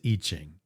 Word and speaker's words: I Ching: the I Ching but you pronounce it itching it's always a nice